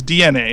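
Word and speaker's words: DeNA: working with with dna spelled d-e-n-a but his dna is how it's pronounced um also known and now i think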